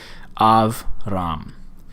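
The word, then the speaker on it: אַבְרָם: want to know is a Shiva is silent if it occurs after a short vowel. If it occurs after a short vowel. And that would be the case here. Av, ram.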